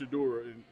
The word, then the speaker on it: Shedeur: But Shedeur is pronounced Shedeur no matter language.